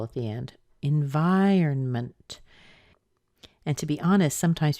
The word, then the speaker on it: environment: at different times but it is not usually environnement it's more often environment environment so what about if